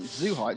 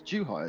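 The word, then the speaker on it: Zhuhai: morning and tomorrow morning how's that the official pronunciation is it apparently it's not zoo height it's too high isn't it know that i've been working hard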